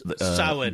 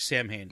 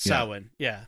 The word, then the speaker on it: Samhain: of Halloween, because you'll hear it was it Samhain, I think is the name of the feast. It was Samhain, they pronounce it, but it looks like Samhain, but Samhain, so and it's this ancient pagan festival, and